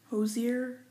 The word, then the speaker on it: Hozier: real quick take me to church by hozier hozier it's spelled h/o the i er all credit goes